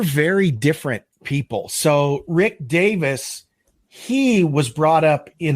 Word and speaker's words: Davies: Roger Hodson and Rick it's spelled like Davies but I think he actually pronounces it Davis Rick Davis those are